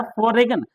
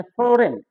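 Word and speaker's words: foreign: गया जी sign डिजाइन य फोगन हम लोग फोगन पढ़ते थे विदेशी है ना जबक होता है फोरेन जबक होता है क्या फोरेन जी साइलेंट होता है य तो मैंने साइलेंट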